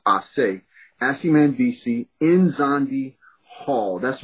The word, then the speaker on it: Ace: name is Asi Mandisi, which is A-C-E is the first three letters, which is really supposed to be pronounced Ase.